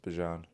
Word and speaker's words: Bijan: He's like, it's pronounced Bijan.